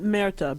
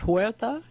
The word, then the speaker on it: Huerta: Not Merta, but Huerta?